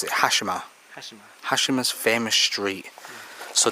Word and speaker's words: Hashima: How do you pronounce it? Hashima.